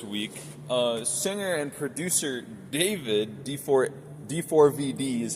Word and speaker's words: D4vd: Earlier this week, uh, singer and producer David D4 D4 VD is how it's spelled.